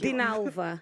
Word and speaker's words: Dinalva: I can't pronounce it. Dinalva.